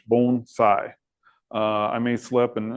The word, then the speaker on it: bonsai: it's it's pronounced and you can think of it as b o n e phonetically and then si gh bon sai uh I may slip